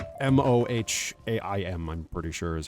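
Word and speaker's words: Mohiam: But in the Dune books and films, I believe her name is Reverend Mother Mohaim or Moaim, something like that. I don't remember how to pronounce it, but it's Mohaim.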